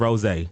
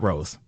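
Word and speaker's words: rosé: drinks you can't pronounce we serve Rose not Rose okay so if you can't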